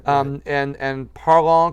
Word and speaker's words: Parlons: say um and and parlour cafe the s is silent um but so and